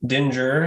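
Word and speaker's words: Dingir: the deities in ancient Mesopotamian religion this pictograph pronounced Dinger has many translations depending on its use the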